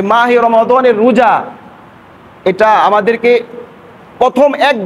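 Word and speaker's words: رمضان: একটা মাসের নাম রমাদান রমজান না রমাদান আরবি শুদ্ধ উচ্চারণ রমাদান একটা মাস আর এই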